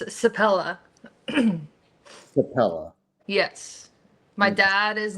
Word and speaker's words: Sepela: No, it's Sepela.